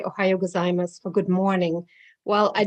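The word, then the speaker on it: おはようございます: end ohayo gozaimasu and i didn't know the u is silent so i would walk to the neighborhood and say to all the japanese people ohayo gozaimasu and later i found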